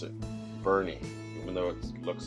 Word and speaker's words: Boerne: That's how you pronounce it, Boerne, even though it looks like it's Boerne. It's Boerne.